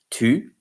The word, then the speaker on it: tu: Tu is you in the singular. And it has to be pronounced tu, like tu, u, like pointu, tordu, foutu, u. Because the sound u is ou.